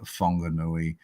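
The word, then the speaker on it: Whanganui: the north isand um in Mali a wh is pronounced as a f um and every vowel sound is pronounced so that word comes out as fongu um it's a l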